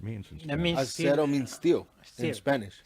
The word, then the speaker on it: Azero: Acero, that's what you say. Acero. Yeah, 'cause it's Mexican.